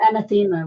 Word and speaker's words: anathema: It just seems That's just or anathema, which is how I pronounced it for the first 30 years of my life, and nobody corrected me.